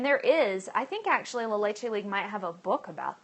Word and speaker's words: La Leche League: So that would be a resource to look into, La Leche League International. It's L-A-L-E-C-H-E and then League, La Leche League. Or as my first leader used to tease, La Leche League.